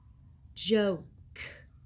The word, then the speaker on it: joke: rope rope co code he makes the o say its name again joe joke joke these are my these